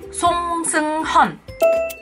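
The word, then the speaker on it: 송승헌: Ada juga aktor Song Seung-hun, bukan Song Seung-hun. Memang nama dia ada yang nulis Song Seung-hun, ada yang nulis Song Seung-hyeon gitu kan. Tapi yang benar bacanya adalah Song Seung-hun.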